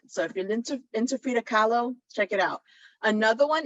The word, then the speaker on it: Frida Kahlo: art um display of Frida Gallows sorry Frida Frida Kahlo I said her name wrong um all of her